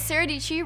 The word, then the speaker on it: Sara Dietschy: My name is Sara Dietschy, rhymes with peachy.